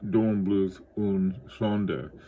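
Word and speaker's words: Dornblüth und Sohn: The first one is a Dornbluth, and it's pronounced differently. It'd be Dornbluth und Sonde, and 99.2.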